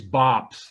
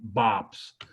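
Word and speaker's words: BOPIS: so much jennifer okay what is bops that's how you pronounce it bops it's the biggest thing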